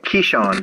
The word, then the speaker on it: Keeshond: Keeshond is how most people pronounce it. Keeshond.